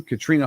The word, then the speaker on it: Katrine: Katrina Horn Coaching. It is Katrina, but it's spelled, looks like Katrine.